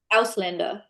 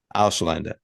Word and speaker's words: Ausländer: Could you pronounce it so that we get the German right here, please? Ausländer. Ausländer.